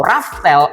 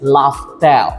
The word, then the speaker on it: Laftel: gini dari yang tadinya kita tahu namanya adalah pulau raftel r a f t e l ternyata itu adalah pelafalan dalam bahasa Inggris laftel jadi ya kita tunggu